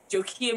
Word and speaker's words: Jokia: anywhere music is released my name if you're wondering how it's said it's like nokia phone but with the gym awesome awesome awesome um